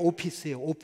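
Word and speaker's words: ὄφις: 헬라어에 뱀을 따라서, 외모를 따라서라는 말이 있는데, 이 문장이요 발음이 거의 똑같아요. 이 뱀이 오피스거든요. 헬라 말로 오피스예요.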